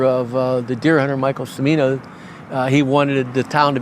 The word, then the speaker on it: Cimino: If I say his name, it is Cimino, correct? Cimino.